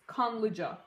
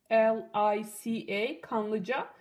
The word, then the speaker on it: Kanlıca: So this is what it is, Kanlıca. So this word here, K-A-N-L-I-C-A, Kanlıca.